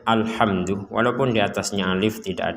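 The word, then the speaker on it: الحمد: sama dengan bismillah tadi jangan sampai dipentalkan alhamdu jangan menjadi alhamdu sekali lagi jangan sampai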